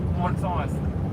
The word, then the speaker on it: Mulțumesc: Mulțumesc.